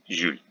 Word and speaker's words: Jules: French borrowings like Julie, Jules, Julien are pronounced by educated people at least as Ju. We know the rule that in Russian words J is never soft, but in borrowings like this we pronounced it as J, soft J, Julie, Jules.